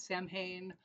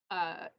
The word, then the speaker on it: Samhain: You might sometimes hear some people call it Samhain, but it is technically pronounced Samhain, is uh, a little bit obscure.